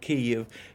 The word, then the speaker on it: Kyiv: English, because, number one, the word consists of two syllables. The first syllable has the vowel E, which is positionally almost identical to E in such words as pit, lid, tid. The second vowel is slightly higher elevated than the E.